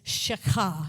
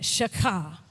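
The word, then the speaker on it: שחה: used 172 times, is shakah. Everybody try to say that, shakah. When you get that, that's how you know you're saying it right, when you feel that sort of thing happening in your throat.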